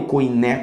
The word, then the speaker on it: koiné: testamento foram escritos no grego koiné eu com né como muita gente prefere pronunciar que era o idioma